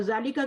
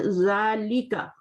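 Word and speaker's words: ذلك: जालिका इस तरह से पढ़ा जाएगा अलिफ के साथ, बट लिखा कैसे जाता है वो आपका बगैर अलिफ के साथ लिखा जा रहा है. यहाँ पे पढ़ना आपने लंबा करके, जालिका.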